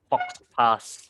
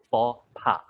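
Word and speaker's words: faux pas: uh speaking uh way so the word is pronounced so it's it's written like it's fox pass but it's for pa so everybody say it together with me you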